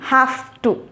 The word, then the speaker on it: have to: you have to Ananda please observe the pronunciation and day I'm not saying how to how to kadithi have to have to h a f t o two but we write it as a h a v e but pronunciation should be like this and Mata half too okay